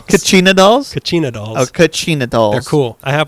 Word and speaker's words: kachina: dolls and other objects the basket collection that's pronounced kachina dolls is it spelled i only know knew